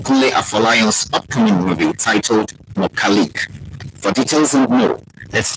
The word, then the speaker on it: Mokalik: Mokalik, which is a Yoruba pronunciation of mechanic, is a story about